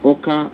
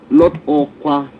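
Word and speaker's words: Awka: Oga Ikemba at Oka, not Okwa, at Oka, not Okwa as it is spelled, and then Odomegu State.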